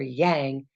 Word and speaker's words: Yang: and one of the ways I remember Yang is that it rhymes with bang bang bang bang Yang